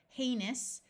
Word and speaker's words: heinous: to Goods being shipped heinous although OU usually says ow O U S at the end of a word is pronounced us something that is heinous is